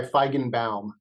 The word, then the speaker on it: Feigenbaum: close super close it's I go by feigenbaum but it's oh bound nice you got like the old original German pronunciation correct right right like